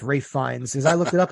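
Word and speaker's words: Fiennes: But and then the last name is not Fiennas. It's Fines.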